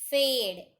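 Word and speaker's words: fade: फेड. F-A-D-E. फेड. F-A-D-E. फेड. ई को आपको sound नहीं लेना है, लेकिन आपको याद रखना है.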